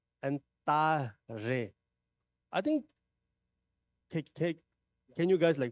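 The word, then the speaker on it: Tare: And Ta-re. I think, can you guys pronounce Ta-re? Re. It's R, Ta-re. It's not Ta-le.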